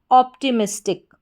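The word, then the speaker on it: optimistic: तो पूरी स्पेलिंग हमारी क्या बन जाती है, ऑप्टिमिस्टिक, ऑप्टिमिस्टिक।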